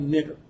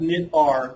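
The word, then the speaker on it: knitr: called Knitter it's not knit R I originally when I first saw it I always saw it was knit R and I actually always pronounced that way but it's actually called Knitter where does the name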